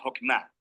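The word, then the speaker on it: חכמה: hacemos Qué es esta fuerza en hebreo se pronuncia hokma y usualmente se traduce al español como sabiduría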